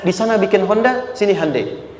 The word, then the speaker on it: Hyundai: Sehingga ketika di sana bikin Honda, sini Handeai. Hyundai kan dibacanya Hande ya kan?